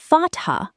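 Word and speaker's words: فتحة: Đặt một Fat-Ha (phát âm là Fat-Ha với âm H rõ ràng, có hơi thở) ở trên tạo ra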